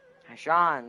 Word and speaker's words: Haishan: Haishan, that's how you say it, Haishan.